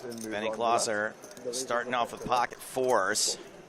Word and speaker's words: Glauser: So it looks like Benny Glauser starting off with pocket fours. Interesting that it's pronounced Glauser and not Glazer.